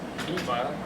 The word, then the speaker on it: HEMA: So, by the way, I say HEMA, I don't mean Eastern martial arts, it's just that I'm French, so I don't pronounce the H. So it's HEMA, right?